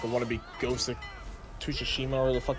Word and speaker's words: Tsushima: It's Ghost of T'Chungus. Oh my, I really just lost brain cells there. Like, he actually sounded serious. Tsushima? Oh my god. How do you pronounce it? Tsushima.